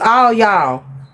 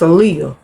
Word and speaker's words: Aaliyah: I thought her name was All Y'all. But it wasn't. It's Aaliyah. It was the way it's spelled.